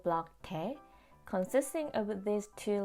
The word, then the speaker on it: 태: By putting these two Korean letters together, we can make the syllable block tae.